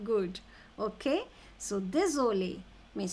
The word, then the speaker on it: désolé: Désolé.